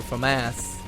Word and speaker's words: FAMAS: probably posting gameplay with a Famas admittedly or Famas as it's properly pronounced I just say like